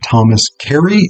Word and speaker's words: Thomas Carew: we're going to talk about the poetry of Thomas Kerry, whom I'm reading out of the Cavalier Poets, um, an anthology from Dover Thrift Editions. Now, his name is pronounced Thomas Kerry, even though it's spelled Karu.